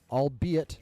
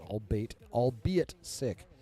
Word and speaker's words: albeit: Vacanus then asks, one thing that made Muse so unique in the comics was how creative, albeit, and that's how it's pronounced, not albeit sick, he was with his crimes.